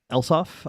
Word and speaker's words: lsof: next ones is um is is lsof or uh elsoff I've I've heard it pronounced sometimes uh lsof is